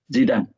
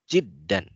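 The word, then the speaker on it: جدا: Asikinul kabiru haddun jidan. Jiddan. Nah, jiddan ada tasydid di situ ya.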